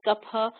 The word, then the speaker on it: Kapha: It's really a PH, P, aspirated P sound, and it does not depend on region. It's pronounced Kapha throughout India because, in